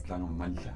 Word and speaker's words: Langamandla: Yeah, it's Langamandla. You said it right. Did I? You said it right. Yeah. Those people, they always pronounce it wrong. Yeah, like they miss out the D.